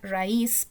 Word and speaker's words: raíz: Lo mismo para la palabra raíz, porque exactamente aplica las mismas razones que para maíz.